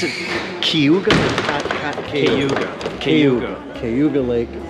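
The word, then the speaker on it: Cayuga: it it's been too long how do you pronounce it kuga kuga kuga kuga Lake it's it's all from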